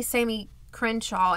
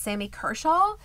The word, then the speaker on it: Sammy Kershaw: a 10 a and I say it wrong every time I think I say Sammy khaw and it's Sammy Kershaw a Sammy Kershaw concert